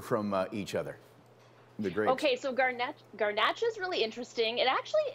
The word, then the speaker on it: Garnacha: Tell me if I'm screwing up the pronunciation. It's Garnacha and Monastrell.